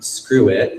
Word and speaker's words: Skrwt: having to open up Photoshop nice and then screw it is another one for adjusting the perspective of